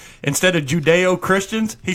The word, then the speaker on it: Judeo-Christian: the greatest we're not he texted me o mispronunciation I've ever heard bender say instead of judeo-christians he said judo Christians three times you go it's judo Christian that's